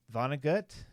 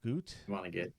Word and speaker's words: Vonnegut: Vonnegut, not Goot. Vonnegut. I've never heard someone say Goot, but it's I don't know. It's spelled that way.